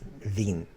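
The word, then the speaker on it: vingt: 2020 says that too in French in 20 is pronounced Veen so that makes him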